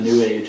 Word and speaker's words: New Age: I like what Penn and Teller said about the New Age. It's pronounced the same as sewage.